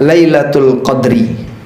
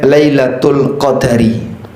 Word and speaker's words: Lailatul Qadr: Ada dua cara baca. Anda bisa baca Lailatul Qadri. Anda juga bisa sebut dengan Lailatul Qadari.